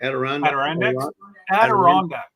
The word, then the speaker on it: Adirondacks: Adirondacks.